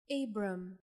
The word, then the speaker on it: Abram: Abram.